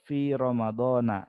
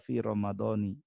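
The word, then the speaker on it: في رمضانَ: Ini Ramadan contohnya, bulan Ramadan itu mansoma min fi Ramadana ya, dibacanya fi Ramadan walaupun ada huruf jar, fi Ramadana tidak fi Ramadoni atau fi Ramadanin, tidak seperti itu.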